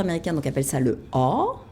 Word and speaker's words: awe: Les chercheurs américains donc, appellent ça le awe. Ça s'écrit A-W-E. Oh, moment. Voilà, comme awesome.